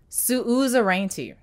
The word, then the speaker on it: suzerainty: yeah and you want to know how it's pronounced suzerainty that's so horrible yes what